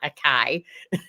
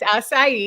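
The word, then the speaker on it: açaí: how to pronounce until my grandchildren said it's not a kai. I didn't know what it was. I thought it was a kai as well. Oops. Yeah, it's acai.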